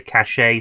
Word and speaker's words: cache: Some people say cache, some people say cache. Cache is what it should be from the root word.